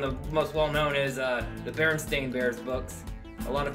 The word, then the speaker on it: Berenstain: know how to talk we always called it Berenstein instead of Berenstain even though it's spelled Berenstain I think it's just because we're